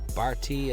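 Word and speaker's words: Berti: I like was it Barty? That's how you pronounce it.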